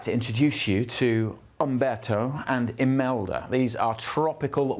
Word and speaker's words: Umberto: I've got to get the pronunciation right because I've been calling it Humberto, and that's wrong. It's Umberto.